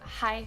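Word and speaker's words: hej: hi in Danish yeah we have hi which is h e j whoa see I didn't know that Nikki did you know that basically it's basically pronounced in the same way as hi whoa all right what's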